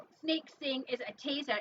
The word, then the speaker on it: taser: Because it's pronounced taser. There's no such thing as a tasar.